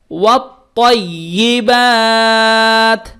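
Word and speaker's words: والطيبات: মাদে হরফ আলিফ, মাদে হরফের পরে হরফে থামলে তিন আলিফ টেনে পড়িতে হয়, তাহলে বাকে তিন আলিফ টানতে হবে এবং তায়ের সঙ্গে যুক্ত হবে।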